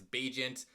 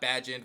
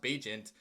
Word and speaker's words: Bagent: secret Beach apparently because that's how you say his name it's bajent not badgent which I made the mistake of saying it badgint before too but it's bajent it's pronounced bajent so we're gonna be